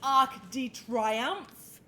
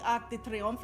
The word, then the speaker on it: Arc de Triomphe: It's not the Arc de Triomphe, it's the Arc de Triomphe.